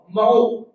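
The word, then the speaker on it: mho: ओम को उल्टा करने का मतलब या तो ओम इनवर्स, या ओम की स्पेलिंग अगर ओ एच एम है तो उसको उल्टा पढ़ लो, क्या हो जाएगा, एम एच ओ, महो। ओम का उल्टा महो, या तो ओम इनवर्स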